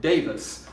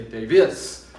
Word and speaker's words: Davis: My name is Davis, and I stress the first syllable. I say Davis. I don't say Davis.